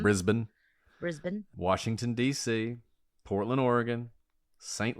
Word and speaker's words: Brisbane: I think that's how we're supposed to pronounce it, right? Not Brisbane. Mm-hmm. Brisbane.